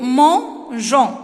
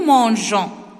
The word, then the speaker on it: mangeons: m tu manges s ils mangent et nous mangeons ici j'ai fait j'ai ajouté le e pour ne pas prononcer nous ment gants si j'ai fait seulement